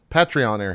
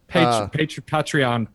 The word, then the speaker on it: Patreon: Because pay and patronage.